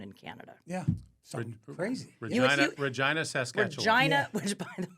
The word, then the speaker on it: Regina: I go, well, what's Regina? I don't understand. And Scott goes, it's pronounced Regina.